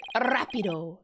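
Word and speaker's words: rápido: Rapido, like with the rrr.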